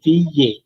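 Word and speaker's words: vieille: তো VA, এখানে মানে এলটা অফ থাকবে, হ্যাঁ ডাবল এলটা তখন সাইলেন্ট।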